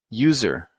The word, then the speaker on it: user: apple a bike but sometimes you write a vowel but you still have a consonant sound okay so for example a user okay a user of